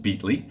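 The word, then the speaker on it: Beatley: my name is beat Lee yes it's pronounced beat Lee and I want to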